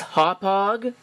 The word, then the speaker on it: Hauppauge: The correct way to pronounce this company's name is Hauppauge, but I frankly think that that's kind of stupid. So I'm going to pronounce it Hauppauge, or Hauppauge.